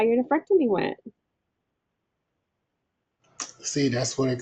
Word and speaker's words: nephrectomy: You need some time to give us an update on how your nephrectomy went. See, that's what it called. I I I don't be pronouncing it correct. Nefrectomy.